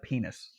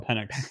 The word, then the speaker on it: Penix: Why did you say it like penis? Because he's playing like penis this year. If he was playing well, I'd call him Penix, which is what his name is.